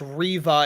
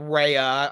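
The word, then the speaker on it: Reva: i want to oh it's riva it's not rhea i don't want anybody yelling at us that i said it wrong and then i messed you up it's riva is the third sister not raya my bad sorry riva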